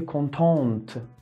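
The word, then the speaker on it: contente: اما اگه یک خانوم بخواد این جمله رو بگه بعد بگه کنتونت, که هم تلفظش فرق میکنه, ته قشنگ تلفظ میشه کنتونت, و هم یک ا که همون ای انگلیسی هستش به انتهای کلمه اضافه میشه. هم به دیکتش و هم به تلفظش دقت کنین.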